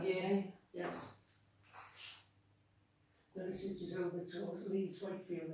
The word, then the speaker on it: Liversedge: Liversedge.